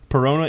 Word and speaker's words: Perona: Perona is my gift to you.